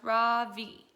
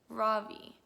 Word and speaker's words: Ravi: first name is robbie it's pronounced raw v with a soft rock and a strong v in sanskrit it means the sun in america people call me ravi with the stress on the first syllable that doesn't mean anything